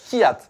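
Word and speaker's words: Kvyat: Espino je cite publiquement m dit qu'il fallait dire Kat il fallait pas prononcer d'accord ça va nous aider non moi je faisais Viat ou un truc comme ça bon Kat très bien super allez voilà je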